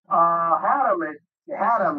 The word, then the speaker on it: Haddam: And yeah, Haddam is the proper pronunciation of it.